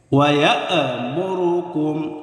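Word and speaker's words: ويأمركم: ওয়ায়ামুরুকুম, ওয়ায়া ইয়া হামজাকে ধরে হচ্ছে, হামজা শক্ত করে উচ্চারণ হবে। ওয়ায়ামুরুকুম, ওয়ায়ামুরু, কোনো টান নেই, কোনো টান হবে না।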